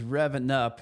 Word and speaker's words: RevvNup: So, like I said, my name is Rev and uh this is Revan Up. It's rhymes with seven up except it doesn't give you that gassy bloated feeling.